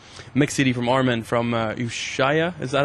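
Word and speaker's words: Ushuaïa: It's also featured on the mix CD from Armin from Ushaya.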